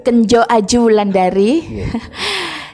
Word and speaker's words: Kenyo Ayu Wulandari: memberi manfaat buat semuanya Nama saya Kenyo Ayu Wulandari kalau ejaannya itu kenjo Aju Wulandari Saya dari Dapil gedung